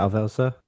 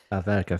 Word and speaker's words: Alverca: I was going to say Alvelsa. Is that good? Alverca. Alverca, thank you.